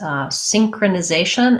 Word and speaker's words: synchronization: So we have the stress on the second to last syllable. That's a typical pattern in longer words in American English. We have the clear A there, and then we end with our short shun, T-I-O-N.